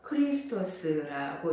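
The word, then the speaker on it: Χριστός: 그리스도 예수, 그리스도는 헬라어로 크리스토스라고 읽습니다. 히브리어로 마시아흐라고 읽는데요.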